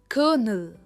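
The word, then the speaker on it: colonel: और सबसे पहला है कर्नल।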